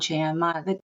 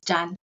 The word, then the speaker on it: Chan: Yeah, usually I just say Chan. The Chinese pronounc Yeah. is John. John.